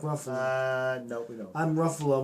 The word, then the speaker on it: Ruffalo: I'm Ruffalo. My name rhymes with Buffalo.